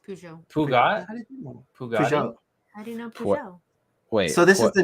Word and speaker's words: Peugeot: so I was looking I wasn't sure how to pronounce this but it's pronounced Peugeot wait so this is